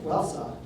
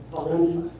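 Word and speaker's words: Wałęsa: Uh the E with a squiggle underneath it is pronounced as E N. So when you add all that up, what looks like well Welssa is actually pronounced Valencia.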